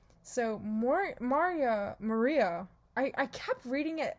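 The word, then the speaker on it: Marya: to be maria but it's spelled m-a-r-y-a that's mar-yaw is oh gosh my i'm i'm americanizing everything i'm pretty sure it's just maria but mario bokonski and julie's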